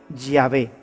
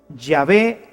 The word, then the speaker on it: Yahvé: De manera que yo soy el que soy se pronunciaría o se diría Yahvé. Yahvé te envía. Así es como habría sonado en hebreo antiguo lo que Dios le